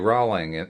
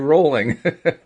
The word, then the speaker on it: Rowling: talking about people like JK rolling rolling rather I've been mispronouncing your name all this time JK Rowling or or Ralph Lauren